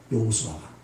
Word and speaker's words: 여호수아: 근데 그 여호수아라고 하는 이름 자체가 여호와는 구원이시다는 뜻이거든요. 여호수아가 여호와는 구원이시다. 이게 히브리식 발음이에요.